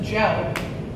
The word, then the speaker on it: Djo: or an alias and I found it spelled d-jo and I was wrapping my brain how am I going to pronounce this it's actually just gel so Joe curie's alternate